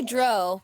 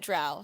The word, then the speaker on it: drow: even saying it right i used to say dro but jeff pronounced it drow so that's what we're gonna go with there you go